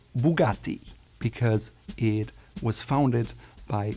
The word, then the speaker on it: Bugatti: Another brand that seems simple, Bugatti, is actually called Bugatti because it was founded by the Italian Ettore Bugatti.